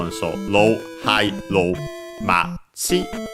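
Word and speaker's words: 町: We have seen it in this very series with the names of other towns, accent on the last syllable, Machi.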